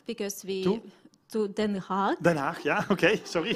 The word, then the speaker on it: Den Haag: Actually, like I went to very first day on 24th, I went to Kaag because to Den Haag. Den Haag, yeah, okay, sorry. Yeah, I can pronounce it differently.